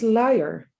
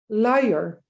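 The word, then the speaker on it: luier: Yes, in Dutch it's liar. Liar? It's liar. Oh, So it's L-U-I-E-R. okay. It's weird. It's probably not pronounceable for most Americans.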